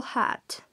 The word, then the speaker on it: hat: hat en este caso como la palabra inicia con h la h en inglés al principio de las palabras tienen sonido y corresponde a una j siempre se usa la h suena como una j sharp browns set and